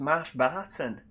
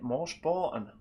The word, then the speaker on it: Marsh Barton: Oh, is it pronounced Marsh Barton? Oh, nobody told me that. What have I been calling it? Mosh Borton all these years.